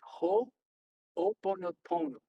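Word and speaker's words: hoʻoponopono: So the way you pronounce this is ho oponopono, and you say it much faster than that, and it means to make right.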